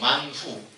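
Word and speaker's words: מן הוא: 떡 떡 그 만나는 그 히브리어 발음으로 후예요 만후 만후 뜻이 뭐냐면 이게 뭐야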